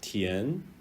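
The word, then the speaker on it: 田: It's pronounced tian.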